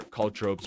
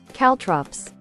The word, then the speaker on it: caltrops: How do you pronounce that? Caltrops. Caltrops, guys. These are called Caltrops.